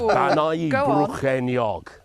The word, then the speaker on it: Bannau Brycheiniog: So it's Bannau Brycheiniog. That's what I said. Sorry, did you miss that? Bannau Brycheiniog.